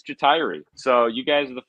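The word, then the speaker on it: Ja'Tyre: exactly and he and i've heard people pronounce his name all sorts of different ways jatari and like and he said it's retiree so you guys are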